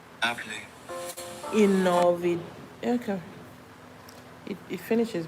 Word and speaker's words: inolvidable: Inolvidable. Inolvidable. Inolvidable. Inolvidable. I feel like the V is pronounced more like B.